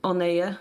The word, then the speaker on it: Oneye: I still have no idea how to pronounce One Eye. Like, One Eye. I mean, technically it's supposed to be read Oneye, but because it looks